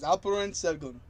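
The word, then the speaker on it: Alperen Şengün: It's Alperin Sengun.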